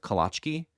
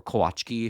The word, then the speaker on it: kołaczki: A dessert that my family had always on special occasions was a Polish cookie called kolaczki. or kołaczki if you're going to be didactic about the Polish pronunciation.